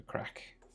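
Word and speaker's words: craic: That's an Irish phrase, by the way, for the crack. It's like for the lols. And it's spelled C-R-A-I-C, not the other way.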